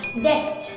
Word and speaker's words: debt: Mặc dù có chữ cái be ở trong từ vựng, nhưng lúc phát âm em lại không cần đọc chữ cái này đâu, hãy phớt lờ nó